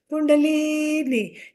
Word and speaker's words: kundalini: pronounce it in america kundalini justly it rhymes with linguini all right that's why